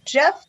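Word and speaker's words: Gef: Okay, number 3, Jeff the Talking Mongoose. The Talking Mongoose. Jeff, and it's spelled G-E-F, and they know that because the Talking Mongoose told them so.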